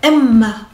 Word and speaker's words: Emma: Par contre, pour Emma, il y a un double M et on va un petit peu s'arrêter sur le M. Emma, mais là en japonais, ce sera que deux syllabes.